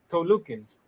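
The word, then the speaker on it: Talokan: And Tolukens, so 3 syllables. I have every confidence, Kente. Come on, say it with me now. Toluken. Tolukans. You say There the we underwater people.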